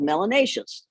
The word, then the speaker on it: melanaceous: amount of melanin should be called melanaceus which rhymes with gracious and efficacious so you see if